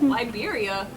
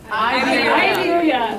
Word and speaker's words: Iberia: Liberia. I pronounced that wrong? Iberia.